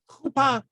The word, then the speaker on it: chuppah: Chuppah. You pronounce it as if it's two syllables. Chu and then pa. Okay. But technically that's a short syllable, so it really needs a consonant to finish it.